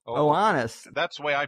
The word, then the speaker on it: Oannes: Oannes. Oannes. That's the way I pronounce it.